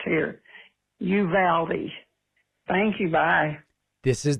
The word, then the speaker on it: Uvalde: know that here in texas we don't say uvalde we say you valdi it reminds me of you pal me you know it rhymes you valdi please correct thank you i